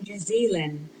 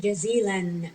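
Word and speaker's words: جزيلاً: We pronounce it jazilan. We add noon because we have two fatha.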